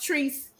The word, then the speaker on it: Treese: Is her name pronounced Treese? It's pronounced Treese.